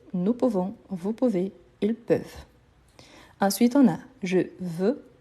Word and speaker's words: peuvent: Donc, attention surtout à cette prononciation-là. Ils peuvent, ils veulent. Peuvent, veulent. Ici, on reprend donc la base du singulier. EU. Donc, c'est pour ça qu'on a ces sons plus ouverts.